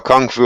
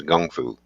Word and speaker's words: kung fu: which we call a Kung Fu over here but the correct pronunciation for Chinese boxing is Chinese Gung fu okay uh was it